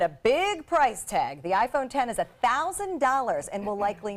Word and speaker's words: iPhone X: can break it now the iPhone X which is actually pronounced 10 because of the Roman numeral will feature facial scanning for unlocking and a big price tag the iPhone 10 is $1,000 and will